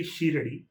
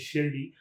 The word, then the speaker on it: Shirdi: So whenever they say Shirdi, they don't say Shirdi, they say Shiradi. So that's what how Tamil people know it. A lot of them say that, but the actual pronunciation is Shirdi, and she has maintained that same pronunciation in